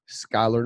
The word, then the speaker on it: Schuyler: go every year about the 1st of December Schuyler Nebraska which is not it's spelled different SCH you why Ellie are whoa